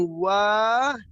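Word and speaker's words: وَالِدٌ: Tapi kalau misalkan yang artinya itu bapak, itu wa-nya itu panjang. Walidun. Jadi dibedakan ya. Dibedakan. Dibacanya waladun sama walidun. Gitu. Ya, kalau walidun itu di situ ada alifnya atau hamzahnya. Kalau waladun itu tidak dibaca dibaca panjang, langsung waladun begitu.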